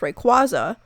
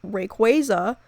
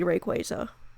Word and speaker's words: Rayquaza: that it was pronounced Rayquaza, but Rayquaza is actually pronounced Rayquaza because it comes from the words ray, as in ray of light, and quasar, which is a celestial body.